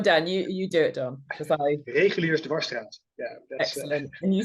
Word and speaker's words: Reguliersdwarsstraat: Reguliersdwarsstraat.